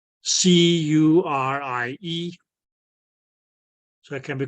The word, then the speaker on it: Curie: The How you Curie pronounce- point, Oh, Q. Curie.